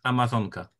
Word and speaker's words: Amazonka: In the Polish language, how is Amazon River pronounced? Please say that South American river for us. In Polish, it is Amazonka. So Amazonka.